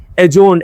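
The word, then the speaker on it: adjourn: the meeting was एजोरन ये add Johnny D is silent एजोन एजोन mean मुल्तवी करना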